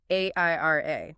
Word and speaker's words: AIRIA: Which is exactly why we need to talk about our partner for this deep dive, AIRA. That is spelled A-I-R-I-A.